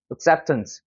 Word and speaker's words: acceptance: 그 다음에 여기 같은 경우도 슈아 발음이 되고 강세가 여기 있으니까 발음하면 어떻게 돼요? acceptance.